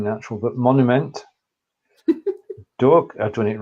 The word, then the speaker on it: Monument: That pronunciation is good, apart from the one dangerous, which I like to call the dangerous words. Monument. The one that's the one that's spelled like the English word exactly. Monument.